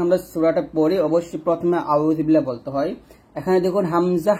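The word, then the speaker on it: أعوذ بالله: এখানে আইনটা চাপ দিয়ে বলতে হবে এবং এক লিপ টান দিতে হবে এরকম জাল পেশের উচ্চারণটা জিব্বার আগা উপরে দাঁতের আগা লাগাতে হবে নিচে লাগলে ভুল হবে আউজু পাতলা বালামের বিল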